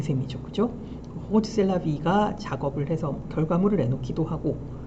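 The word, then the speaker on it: Rrose Sélavy: 이게 로즈를 왜 이상하게 발음하느냐? 사실 듀샹은 프랑스 사람이에요. 그래서 대부분의 작업 제목을 불어로 만듭니다. 아까 에땅돈에도 이제 불어거든요. 근데 이게 R이 두 개다라는 거는 이제 프랑스식 R 발음을 해라라는 얘기가 될 것이고, 그래서 로즈보다는 호즈 셀라비라고 발음하는 게 더 맞아 보입니다.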